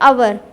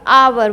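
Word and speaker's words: hour: जिसको हम आवर को कई बार प्रोनाउंसिएट कर देते हैं अवर, अवर नहीं होगा, आवर बोलते हैं इंग्लिश में।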